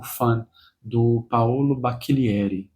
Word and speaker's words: Bacchilieri: O primeiro que eu concluí foi esse aqui, O Fan, do Paolo Bacchilieri. Ele é italiano, então deve ser Bacchilieri, a pronúncia no nome.